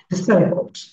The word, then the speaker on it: disabled: হ্যাঁ, এটা মু দেখো, এটা উচ্চারণ হচ্ছে ডিসেবলড সাউন্ড, ডিসেবলড। ইয়া, এবার আমার ছোট্ট আম্মাজান পড়বে অর্পা।